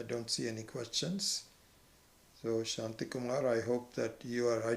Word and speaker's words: Shanti: Actually, with Purnamadav, the Shantis are pronounced separately. I keep forgetting that. So it is the Anuswara first. So it becomes Shanti, Shanti, Shanti. Not Shanti. Not the high to the low, but low to high.